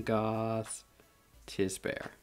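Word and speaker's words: Gostisbehere: know all right shane goss to bear no i said i always have trouble the nice thing is it has um how to pronounce it on the back shane goth tissbear let's call him ghost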